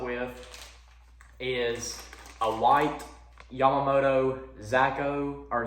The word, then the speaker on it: Zako: pairing this up with is a white yamamoto zacko or zako it's pronounced or is spelled z-a-k-o so that's my